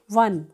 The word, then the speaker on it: one: ठीक है, लेकिन यहाँ जो आपका ये है ONE, तो ये जब आप हिंदी में इसको बोलोगे या इंग्लिश में भी प्रोनाउंस करोगे तो क्या आएगा? वन, वन मीन्स एक, और किसकी साउंड आ रही है? व की, और व आपका क्या है? कंसोनेंट।